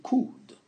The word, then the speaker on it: could: Donc, vous prononcez surtout pas le L. Ici, on l'écrit, mais on ne le prononce pas. On dit could.